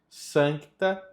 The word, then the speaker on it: Sancta: Na próxima, a mesma coisa aqui, ó, Sancta. Esse C precisa ser dito. Sancta Trinitas unus Deus, miserere nobis.